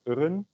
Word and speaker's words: eren: There are also this weird kind of plural where you add eren, which is pronounced as uren.